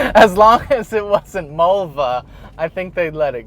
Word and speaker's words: Mulva: As long as it wasn't Mulva, I think they'd let it go. It rhymes with a female body part.